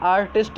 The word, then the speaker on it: artiste: इसका pronunciation आर्टिस्ट ही होगा दोनों का, ठीक है।